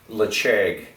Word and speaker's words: Ledaig: Something, if you can get your hand on a 10-year-old Lacheg, and it's spelled Ledaig, one of the best 10-year-olds out there, let alone being one of the top peated whiskeys in my palate.